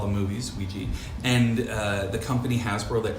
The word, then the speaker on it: Ouija: do you have a preference it was originally pronounced oui je and then by the 1920s people would say